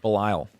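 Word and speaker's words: Belial: Is that how you pronounce that? Balile.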